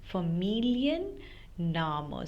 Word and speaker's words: Familienname: that I told you if you have a long German word, then you always split it and then pronounce it. So Familienname. So you split this into Familien and Name.